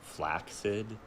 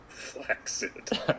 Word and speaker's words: flaccid: the word you know the word flaccid is pronounced flaccid correctly really yeah flex it well uh but yeah i understand what